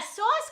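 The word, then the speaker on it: sås: And in Sweden, you pronounce the word sauce as sauce. Sauce. And it's spelled S-A with a little dot diacritic on top.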